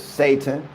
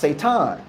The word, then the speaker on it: Satan: all the enemy is Satan you're not even pronouncing the name right it was pronounced seitan okay you got to